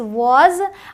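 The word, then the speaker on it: was: इट डब्लू ए एस वज अब यह आपका एक्सेप्शन हो गया मैंने आपसे कहा था ए का साउंड आएगा बट यहां इसे वाज बोलते हैं एस ओ सो हो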